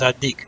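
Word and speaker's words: الديك: The next one, ad-dik, you would put a shada on the del, right, and pronounce it as ad-dik.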